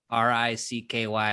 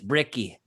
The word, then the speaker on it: Bricky: b as in bravo r-i-c-k-y a lot of people think my name's ricky but it's bricky and uh we set